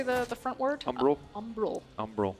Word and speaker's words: Umbral: Umbral. Umbral. I always want to say umbrage, like Harry Potter.